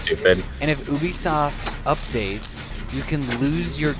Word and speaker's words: Ubisoft: Yeah, it's Ubisoft.